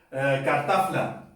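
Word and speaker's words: kartafla: Por ejemplo, cartafla. Cartafla. Aquí la F viene antes de la L, pues se transforma en P.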